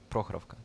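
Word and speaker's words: Prokhorovka: That's you put the emphasis on the first part of the word. Prokhrovka.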